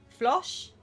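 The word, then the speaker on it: floche: flu no flu in pronunciation like josh but with the flu flosh trees are or trichotinoprudent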